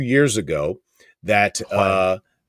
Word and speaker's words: Huang: I heard him say 2 years ago that Huang. Wang, thank you.